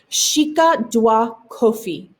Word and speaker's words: Sika Dwa Kofi: It's pronounced Sika Dwa Kofi, and it is the golden stool.